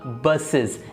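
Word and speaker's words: buses: इसलिए इसकी एक करेक्ट प्रोनाउंसिएशन निकालने के लिए हमें ई एस लगाना पड़ा और इसका साउंड फिर निकला बसेस।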